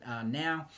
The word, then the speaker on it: Nao: Her first name being Nao, so I'm going to pronounce it now.